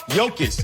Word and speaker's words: Jokić: let's move on to the nba where nikola yokis did i say it right this time yes